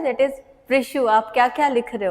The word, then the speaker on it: प्रिशु: That is प्रिशु। आप क्या-क्या लिख रहे हो? प्रिशु सिंपल सा नाम है प्रिशु। ठीक है? ये स्पेलिंग है थोड़ा याद करो अच्छे से।